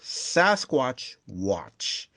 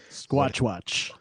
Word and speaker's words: Squatchwatch: They co-created the comic book series Sasquatch Watch. Squatchwatch. Squatch. Oh, Squatchwatch. Oh god, I screwed that up. It's like It rhymes. It's a rhyming scheme.